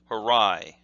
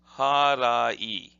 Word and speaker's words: harai: at this and say, harai, harai. But in Japanese, you pronounce every single syllable with approximately the same emphasis.